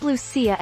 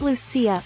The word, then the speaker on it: Lucia: St Lucia, pronounced Lucia in Italian and Lucia in Swedish, was born in Sicily, an island of the coast of Italy, in the 3rd century AD.